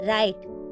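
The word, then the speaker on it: write: किसी वर्ड के शुरुआत में अगर डब्ल्यू के बाद आर आता है तो डब्ल्यू का उच्चारण नहीं किया जाता। For example राइट।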